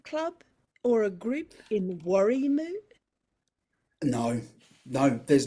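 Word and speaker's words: Warrimoo: r i m o too many but um worry moo worry moo no more is there a ukulele club or a group in worry moo no no there's not even a shop in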